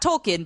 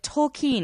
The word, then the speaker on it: Tolkien: of catch-up with tokine not talking but tokine because apparently we've all been saying it wrong for years it is the biopic